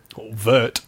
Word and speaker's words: wort: spelt wor T but it's a Germanic word so some argue that it should be pronounced worked vert or vert and some